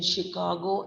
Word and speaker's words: Chicago: is the letter ch the letter c h in chicago and michigan are pronounced like shop sure but we don't say